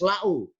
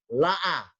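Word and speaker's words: لَأَا۟: Kalau dalam kaidah bahasa Arab, lam alif hamzah harus la'u. Berhubung ini Al-Quran ada satu kata, dan memang satu-satunya kata di Al-Quran tulisan la'a. Biasanya harus dibaca la'u. Kenapa dirubah la'a? Karena ketambahan huruf alif yang sebelah kiri.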